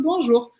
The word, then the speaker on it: bonjour: Mas eu vou deixar escrito bonjour. Vamos simplificar, porque a gente tem bastante coisa para ver. Aí como que eu pronuncio isso aqui? O O-N... é igual em português, bom, um, tipo bombom, tá? Bonjour.